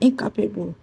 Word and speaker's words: incapable: The incapable will be stressed on CA, while interminable will be stressed on TER.